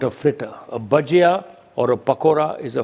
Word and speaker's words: bhajia: to make a thing that is very grossly mispronounced in Britain and it's an onion Baja okay Nationwide in Britain is called a baji but baji means cooked vegetables or spinach baji is not a Fritter a bajia or a pakora is a Fritter okay so